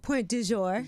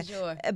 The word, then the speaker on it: Pointdujour: Pointdujour. Yes, and she said it right, y'all. You hear that? Yeah. Pointdujour.